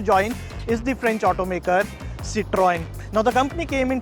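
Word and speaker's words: Citroën: The brand Citroen is pronounced as Citroen, and that is how you should pronounce this French automaker.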